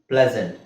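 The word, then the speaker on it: pleasant: ಅಲ್ಲಿ ಬಂದ್ರೆ ಎಸ್ ಅಂತಾನೆ ಹೇಳಬೇಕು ದಿಸ್ ಸೀಸನ್ ಇಸ್ ಪ್ಲೆಸೆಂಟ್ ಒಂದು ಎರಡು ಮೂರು ಪದದಲ್ಲಿ ನಾವುಎಸ್ ಅನ್ನ zೆಡ್ ಅಂತ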